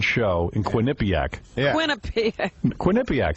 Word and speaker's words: Quinnipiac: Quinnipiac, that's how you say it.